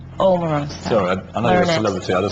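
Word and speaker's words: Omarosa: Well, we immediately identified their weak link as being Amarosa. Omar Rosa. Pierce, if you're going to say my name, say it right. What's your name? Omar Rosa.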